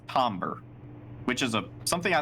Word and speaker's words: timbre: The tomber. Tombber. Yeah, it's it it's spelled Timbre, but it's pronounced tober, which is a something I learned at my